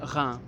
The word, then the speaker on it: Reims: That was at Reims, a city somewhat to the east of here, but Reims is spelled R-E-I-M-S, despite the pronunciation.